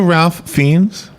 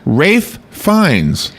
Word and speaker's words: Ralph Fiennes: their real name would be very hard to pronounce. Yeah, exactly. And maybe remember. Here's one. Ralph Fiennes. Do you know Ralph Fiennes?